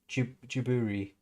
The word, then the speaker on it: Ghibli: in a in a Jibli world. Also, Los is saying Ghibli is supposed to be pronounced with a hard G like in Italian, but the Japanese call it Jiburi, so they started it.